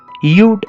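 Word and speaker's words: you'd: ഉച്ചാരണം എങ്ങനെയാണ്? യൂഡ് എന്നാണ്.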